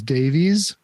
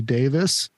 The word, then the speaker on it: Davies: Mr Ray Davis and a lot of people think his name is Davies but it's actually pronounced Ray Davis from The Kinks and